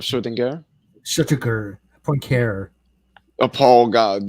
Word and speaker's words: Schrödinger: Just like people say Schrodinger instead of Schrödinger.